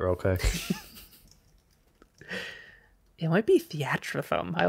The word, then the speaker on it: Theatrhythm: Final Fantasy Theatrhythm. I like the second way you pronounced it. Theatrhythm? Yeah, Or theater rhythm might be it, but it's definitely spelt.